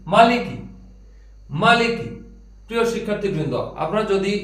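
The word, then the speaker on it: مالك: আমরা যদি এভাবে দেখি মিম মানে ম লাম মানে ল কাফ মানে ক এখানে রয়েছে আকার মা এখানে রয়েছে রসইকার লি এখানে রয়েছে রসইকার কি তাহলে উচ্চারণটা হচ্ছে মা লি কি আমাদেরকে এটা যদি আমাদের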